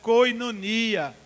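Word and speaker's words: κοινωνία: palavra que no grego e se pronuncia ou se escreve koinonia essa palavra coelho no Grego é uma palavra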